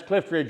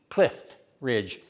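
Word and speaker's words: Clift Ridge: And a lot of us old coots here just go out of our way to pronounce the T. Clif Ridge.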